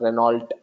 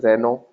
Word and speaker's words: Renault: But as I told you now, that in French you don't pronounce the last alphabet. So T is totally silent. So it's Renault or Renault.